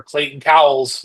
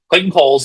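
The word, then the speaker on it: Clayton Cowles: Um, and then there was also the matter of our letter Clayton Cow's Cole Clayton Kohl's, excuse me, I keep saying his name wrong.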